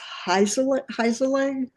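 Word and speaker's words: Heinzerling: and it's Zachary Zachary and how do you pronounce his last name Doug? It's Heiselang.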